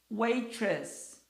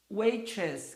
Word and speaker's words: waitress: O T aqui tem som de R porque está entre duas vogais. Waitress, waitress, garçonete.